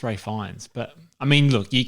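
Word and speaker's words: Ralph Fiennes: it's pronounced whatever but who calls Amir Ralph Ray and yes as Ray fans that's Ray fines but I mean look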